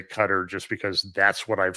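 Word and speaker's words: Qatar: the Persian Gulf is I'm going to say cutter that's what everybody I've been listening to in the news has been saying so you know what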